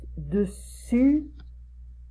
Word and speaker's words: dessus: Et on prononce dessus, dessous. Ok, dessus, dessous. Je retire la langue. Dessus, la langue elle est devant, derrière mes dents. Et dessous, je retire la langue.